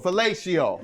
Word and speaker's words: fellatio: I give you what what's the right way to say it falcio fellacio yeah that's what it is I've been so attracted